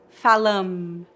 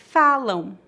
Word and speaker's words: falam: Note que não tocamos os lábios para pronunciar o M em final de palavras. Não dizemos falam, e sim falam.